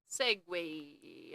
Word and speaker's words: segue: Segue shouldn't be spelled like that. Well, yeah, it's true. It shouldn't be spelled like that. Segue. Thought it was the French.